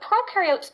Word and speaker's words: prokaryote: have membrane-bound organelles, and prokaryote, the pro rhymes with no, and they do not have membrane-bound organelles.